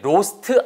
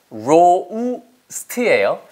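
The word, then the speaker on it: roast: 발음이 로스트 아니고요. 로우스트예요. 그러니까 R 발음은 항상 입술이 나간 상태에서 시작하니까 로, 로, 로우, 로스트, 로스트, 로스트 해서 발음 다 알듯이 끝에 으 너무 붙이지 마세요.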